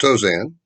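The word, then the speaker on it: Tauzin: edwards uh congressman billy tozan for those of you who uh speak uh fluent cajun you know that spell t-a-u-z-i-n and pronounced dozen lieutenant secretary of state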